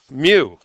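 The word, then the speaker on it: μ: Mu. Pronounced mu, like a cat.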